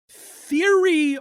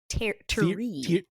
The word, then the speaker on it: Thierry: We've got Judge Reinhold as Theory Martin. Terry. Terry. You gotta say it in the accent and then it comes out right.